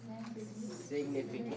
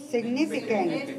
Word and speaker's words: significant: What is the syllable stress code? Significant. 4-2. Okay, show me again. Say it again. Oh, beautiful. Good. See, when you think about it and you got it, and then you push yourself up on the second syllable, you sound beautiful.